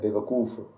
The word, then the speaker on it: بے وقوف: لفظ ہے بے وقوف. وقوف کے پہلے واو پر پیش ہے، تو اس کے علاوہ خلط ملط دونوں لام ساکن ہیں.